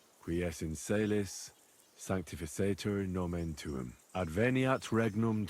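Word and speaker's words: in caelis: You're saying it wrong. Listen. It goes like this. Pater noster, qui es in celis, Sanctificator nomen tuum.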